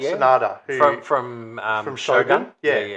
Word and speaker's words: Sanada: Is that how you pronounce his name? Sanada yeah. Sanada From from um from Shogun.